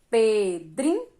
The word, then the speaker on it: Pedrinho: Pedrinho. Qual é a sílaba tônica, a sílaba mais forte? Dri, né? Pedrinho.